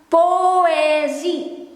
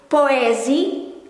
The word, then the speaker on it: poëzie: In Dutch, because we make sure this letter being pronounced instead of together it become oo, poo. This one, poëzie. Instead of poo, it's poëzie, poëzie.